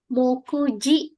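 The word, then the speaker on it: 目次: Jadi di situ dibacanya mokuji. Sugi itu bisa dibaca ji. Oke. Jadi dia dibacanya mokuji.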